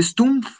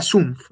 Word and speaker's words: Sumpf: Y acá le diste Stumpf, pero era Sumpf.